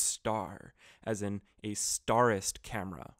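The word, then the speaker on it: ★: like to cover that the asterisk symbol that pentax uses is pronounced star as in a starist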